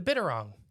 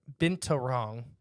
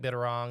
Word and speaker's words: binturong: oh it's wrong it's it's actually been to wrong is how it's spelled I think you're wrong binta vintarong oh uh but some people say unto you like bitter wrong and stuff like that because accents and stuff you know just the